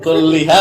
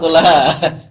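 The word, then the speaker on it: كُلَّهَا: Ayo, kulliha apa kullaha? Kullaha dong, kullaha. Karena kan antaklam, annal harokata berarti kullaha.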